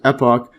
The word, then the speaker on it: epoch: Holocene epoch, I think before I was pronouncing it epic, but anyways, epoch, with the more recent time, sometimes called Anthropocene.